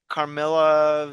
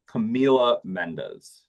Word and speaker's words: Camila Mendes: I just felt like she did not look like um I I'm not sure I pronounced her name. Carmela. Camila. Camila Mendes.